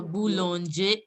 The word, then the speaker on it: boulangerie: OU sound, you know, it is oo. So it is boo. Oh. Boulon. AN is on. So it is boulangerie.